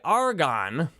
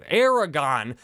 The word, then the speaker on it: Aragon: sense if you want to buy Argon these are other people who want to buy uh you're not saying it right Aragon if you want to